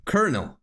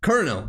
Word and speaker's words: colonel: Colonel. Colonel. That's how you pronounce it.